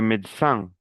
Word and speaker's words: médecin: le soudeur, le soudeur, le médecin, no pronuncio la E, la del medio, le médecin, le vétérinaire, le vétérinaire, le